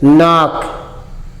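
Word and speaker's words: knock: के एन ओ सी के तो के साइलेंट हो जाएगा। इसको क्या पढ़ेंगे? नाक। नॉक। के एन ओ सी के नॉक।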